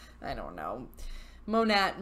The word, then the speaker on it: Monet: like I don't know moan at Monet I've heard actually it's funny I've heard from all of you some have said to pronounce it moan at some have said Monet and I have googled